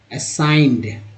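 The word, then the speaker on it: assigned: Which may वी असाइंड, असाइंड ए जी एन को एन बोलते हैं, यहाँ पर जो एन है जी एन में एन जो है ये यहाँ पर एन ही उच्चारण होता है। जी जो है हमारा एक्चुअली साइलेंट लेटर है, आई का उच्चारण आई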